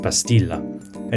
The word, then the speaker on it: pastilla: the dish is popular the dish is called bastilla with an initial b and aulalized whereas safari jews speaking ladina and l kattia preserve the p pronunciation calling it pastill a name which has survived